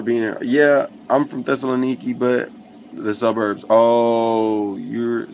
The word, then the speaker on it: Thessaloniki: Yeah, I'm from Thessaloniki, but the suburbs.